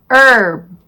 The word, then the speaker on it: herb: Sometimes H has no sound. Historical. Herb.